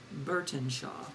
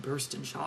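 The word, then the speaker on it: Burtenshaw: one is shadowcry and i pronounced this wrong in my hall recently jenna burton shaw i think i said burst and shaw or something like that jenna burton shaw the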